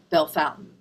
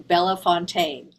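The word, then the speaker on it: Bellefontaine: my friend Fred Bartenstein, I know how to say Bell Fountain because I've been saying it wrong the whole time. And I just want to make a public apology to the entire state of Ohio for because I've been saying Bella Fontaine.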